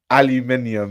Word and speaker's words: aluminium: um sack of jewelry aluminium yes that's how that's how to say it I live in England we speak English we invented the language so we say it the right way you all you Americans